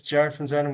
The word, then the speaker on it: Jarrad Van Zuydam: Um yeah, my name is Jared Xan. Well done. You one of the few people who pronounced it correctly, but I suppose you're from Belgium, so the Dutch are just next door.